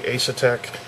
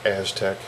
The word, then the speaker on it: Asetek: Got a Asetek, or Aztec, I believe it's Aztec is how it's pronounced, but they're low-cost liquid cooling system.